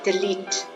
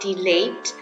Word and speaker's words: delete: instruction delete delete delete the proper uh pronunciation is actually delete yeah delete delete delete that's pasta java but this one is english delete yeah it's not delayed copy delete delete where